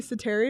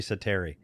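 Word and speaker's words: Säteri: a move by claiming harry cetera is that how you pronounce it that's how i've always pronounced the name if that's wrong i've always called him harry sateri am i right but it doesn't sound very finnish pronounced like that it it sounds really good actually the way pd says it so that's it he's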